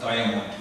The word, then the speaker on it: Diamant: It's a part of the Trek family, Diamant bikes, or Diamond, you would pronounce that.